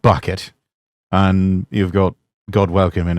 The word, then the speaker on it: Bucket: Those of you who are fans of Keeping Up Appearances, Dame Patricia playing the character Hyacinth Bouquet, always pronouncing it bouquet, even though it's spelled bucket.